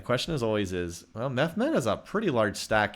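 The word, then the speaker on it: Mehmed: War M oh okay I can see the pronunciation is more like mes gotcha yeah I'm doing more of a I'm doing like a French pronunciation you're right so okay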